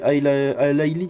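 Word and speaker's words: Alaily: Alaili, pardon. Oh là, oui, ah oui, c'est Alaili. Oh, j'ai mal prononcé.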